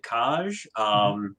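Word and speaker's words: Kaź: Kaj in this case is spelled K-A-Z. There should be a accent over the Z. It shows up on like 4 things because Polish is weird.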